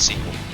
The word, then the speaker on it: SQL: Access I know but if you pronounce it as a word it's sequel oh I had no